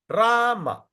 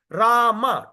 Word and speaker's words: Rama: Hare Rama. Hare Rama. Rama. Rama. Hare Hare. We are paying attention to every syllable. 32 syllable. You don't chant Ram. Hare Ram. Wrong. Because Ram, Rama, 2 syllable.